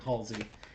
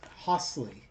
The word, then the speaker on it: Holsey: I keep saying Hollyy and I think that's because I know of a World War II uh commander named Hollyy and it's Ho Hosley. I don't know. Hosley.